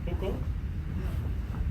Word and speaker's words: hukou: Hukou? H-U? Hukou. Yeah. Okay, pardon my pronunciation.